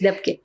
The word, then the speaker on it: Dabke: Is that the right way to pronounce it? Yes, Dabke.